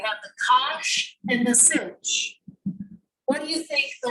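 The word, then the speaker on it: sinh: s i n h of x and you pronounce that one cinch we have the kosh and the cinch what do you think the ratio of the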